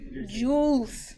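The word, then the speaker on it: joule: parameters is thank you jules juice right that's how you say it jewels yeah jewels okay it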